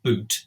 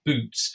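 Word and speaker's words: Bute: looks as though abuse at this time is pronounced boot because butte is very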